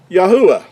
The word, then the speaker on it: Yahuah: it gives us yahoo first three letters and the last letter would give us the yahoo i would be how the creator's name is pronounced now this is a